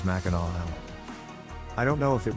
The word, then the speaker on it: Mackinac: to correct myself here even though makanak ends with a c you're supposed to pronounce it as mackinaw i don't know if